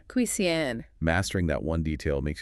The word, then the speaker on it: cuisine: It's a French word, so the stress is on the second syllable. Cuisine. Cuisine.